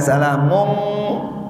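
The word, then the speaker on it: سَلَامٌ: Ayat itu kalau ditulis dengan tulisan Latin, walaupun bacanya salamum, gak bakalan ditulis salamum. Bagaimana ditulisnya? Salamun pakai n.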